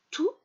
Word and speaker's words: tous: Tout, with an S at the end, but that you do not pronounce.